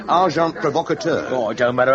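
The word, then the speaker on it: agent provocateur: They would persevere send in uh well probably you wouldn't know the term and agent provocator. S amazing karate. The pronunciation however is arjant provocator.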